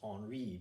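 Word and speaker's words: Henri: King at this time period was named King honoree looks like Henry but it's pronounced honoree because he's a ridiculous French accent Audrey was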